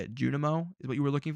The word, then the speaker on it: Junimo: I said Junimo. Like that's not a crazy way to say that word. I guess you're. How do you want me to say it? Junimo is what you were looking for.